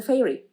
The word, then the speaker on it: Feyre: she literally tells us how to pronounce her name fair uh like that feyre obviously sounds like